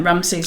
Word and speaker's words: Ramesses: long as it's consistent it sounds strong to me it does it does it sounds too short yes because we're not accustomed to it no i suppose we should call him ramasu because he he did change his name sort of halfway through from